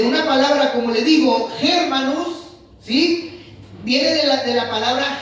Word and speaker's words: germanus: Esta palabra, hermano, tiene origen obviamente desde el hebreo, pero en el latín, hermano, significa germanus. Así se pronuncia o así se trata de pronunciar.